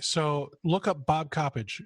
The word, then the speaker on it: Coppedge: always called you Bob copage but somebody recently pronounced your last name copage it's copage okay so um all right so look up Bob copage c o p p d GE uh on